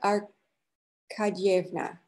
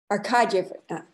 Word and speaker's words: Arkadyevna: Now I'm being told how to pronounce it. Anna Arkadyevna. Arkadyevna. Anna Arkadyevna.